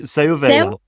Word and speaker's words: Seu Vella: I'm probably going to pronounce this incorrectly, the Seu Vella? You don't even know what I'm talking about. That's how bad the pronunciation is. Yeah. Tell me how's it pronounced? Yeah. Seu Vella.